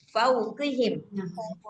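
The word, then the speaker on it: فَوْقِهِمْ: Nah, ketika dia kasrah harus tetap tebal juga tapi enggak sampai kayak gitu ya. Enggak sampai kayak huruf atau huruf th yang sampai kita bacanya itu kayak di gitu. Nah, huruf qof ini ya enggak sampai begitu. Ah, fauqi fauqihim fauqihim fauqihim.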